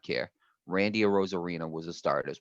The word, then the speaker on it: Arozarena: Like Aside like from Randy Kiermaier Rosarina.